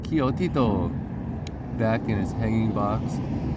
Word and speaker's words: Coyotito: She put Coyotito, I've been mispronouncing that the whole time, Coyotito, back in his hanging